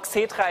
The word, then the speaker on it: Xetra: for Stock Exchange yeah so tell us about Xetra Xetra that's what it's called right what makes today special yeah you pronounce it correctly it's called Sitra it started twenty years ago and pretty much